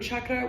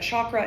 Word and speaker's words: chakra: It is the popular pronunciation in the Western world, but chakra is not how that word is pronounced. It's actually chakra.